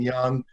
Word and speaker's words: Junge: And I'll end by saying that while I pronounce my name Young, I spell it J-U-N-G-E.